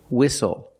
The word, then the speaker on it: whistle: seat belt very good we also see the silent T when you have a spelling pattern stle e like these words whistle castle and hustle the t